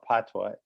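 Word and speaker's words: patois: dialect which is called patwa it's spelled p-a-t-o-i-s but it is actually pronounced p-a-t-w-a-h uh we'll talk about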